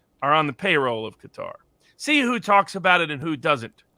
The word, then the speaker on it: Qatar: And what's interesting is how nobody wants to talk about Qatar, or Qatar as it's sometimes pronounced.